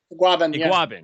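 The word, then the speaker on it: Igbinoghene: Is that how you pronounce his name? Iguabin.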